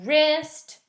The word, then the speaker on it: wrist: tighten something up so wrist right wrench they all sound like they're starting with an R but the W is actually what begins it this is something you